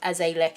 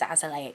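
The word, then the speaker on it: azelaic: azoleic acid i know i always say as a lick it's just it's that's how i started saying it and it's really hard to move on to it but the correct terminate like the correct way to say it is as a okay i'm sorry forgive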